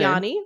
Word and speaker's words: Ioannis: So you can see his name right here on the Ioannis, That is pronounced my name. Yanni, right?